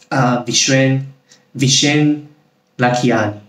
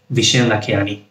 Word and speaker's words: Vishen Lakhiani: Mind, written by the founder of Mind Valley, Vishen Lakhiani. I think I pronounced it right. Vishen Lakhiani.